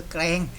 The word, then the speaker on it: แกลง: จังหวัด ระยอง นะ ครับ อ่าน ว่า อำเภอ แกรง นะ ครับ ไม่ ใช่ อำเภอ แกรง นะ ครับ อ่าน ว่า อำเภอ แกรง นะ ครับ ที่ จังหวัด